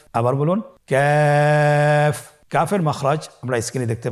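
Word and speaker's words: ك: কাফের মাখরাজ হলো জিহ্বার গোড়া থেকে একটু আগে বাড়িয়ে তার বরাবর উপরে তালির সঙ্গে লাগিয়ে উচ্চারিত হয়। তাহলে আমরা কফ যেখান থেকে উচ্চারণ করেছি একটু আগে বাড়িয়ে সেখান থেকে আমরা তার বরাবর উপরে তালের সঙ্গে লাগিয়ে হরফটি উচ্চারণ করব।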